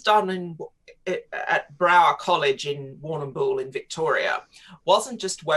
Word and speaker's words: Warrnambool: it you say it what it's pronounced warren bull it's a um aboriginal name okay but uh but